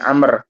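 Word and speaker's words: عمرو: Akbarona Abu Jafar Muhammad bin Amr. Jadi kalau tulisannya ain mim ro itu bacanya Umar. Ya kalau tulisannya ain mim ro itu Umar. Tapi kalau ain mim ro ada wawuhnya Amr bacanya nggih bacanya Amr bin Amr ee bin Bakhtari.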